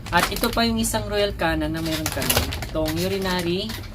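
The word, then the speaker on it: Royal Canin: mga alagang pusa itong Royal Canon. Ayan. So royal canon no anong pronunciation niya? Siguro nanibago kayo kung first time niyong marinig yun. Ang pronunciation pala niyan ay royal can ' ba nakakatawa.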